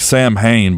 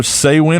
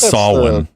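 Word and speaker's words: Samhain: It reads like Sam Hain, but it's either Saywin or Sawin. I know it is. I'm pretty sure it's Sawin. I think that's like the correct pronunciation. I've always said Sam Hain myself. It's Gaelic, so I think it's Sawin, if I remember correctly.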